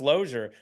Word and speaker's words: Losier: And I'm like, "Yeah, but it's pronounced Lozier."